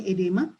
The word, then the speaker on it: oedema: Edema, ya, tulisannya oedema, bacanya edema, di mana itu tadi terjadi penumpukan cairan yang tissue fluid ini di kita penjaringan.